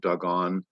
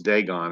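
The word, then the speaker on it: Dagon: on the threshold of dogon in ashdod to this day I always thought it was degon until I read in strongs the pronunciation U could be don't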